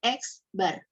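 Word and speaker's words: x̄: ini sebagai bagian dari ini namanya eksbar bacanya eksbar atau rata-rata Nah nanti dari ini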